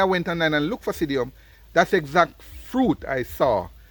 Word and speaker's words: psydium: was saying earlier it's it's called sidium it's spelled p I think it's p s y d i u m but there might be different variations to the spelling essentially he called it sidium when I went onine